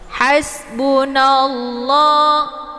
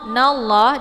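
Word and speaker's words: حسبنا الله: Hasbunallah, nallah di sini ada lafadz jalalah ya, yaitu lafadz Allah. Ini dibacanya tafkhim ya, jadi tebal karena sebelum lafadz Allah berharokat fathah. Hasbunallah, nallah.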